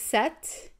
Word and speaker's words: sept: and like to cease and desist seven is set and when I think of seven I think of September but September you actually pronounced like the SE PT by the way